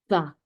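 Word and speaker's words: ثاء: 네, 보시면 이를 그 혀를 이 사이에 가볍게 물어주시고 바람을 내부시는 거예요. 싸. 그래서 영어로 치면은 고맙습니다 할 때 thanks 하죠. thanks. 그 발음이 바로 이 싸 발음이에요.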